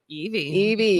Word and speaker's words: Evey: Evey. Like the Pokemon. Oh, yes, the E, but not spelled the same.